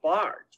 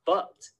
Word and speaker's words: Bart: Well, you should pronounce it a little longer and say like Bart instead of Butt.